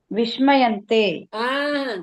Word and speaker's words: விஸ்மயந்தே: சகாராவை வந்து ஷகாரா மாதிரி ப்ரொனவுன்ஸ் பண்ணாதீங்க. சகாரா. சகாரா, தட் இஸ் சரஸ்வதி சா. அந்த சா வந்து ஷா வரக்கூடாது. விஸ்மயந்தே.